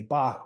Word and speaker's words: BLKBOK: And like you Yeah, said, your name is pronounced Bach, even though you spell it BOK.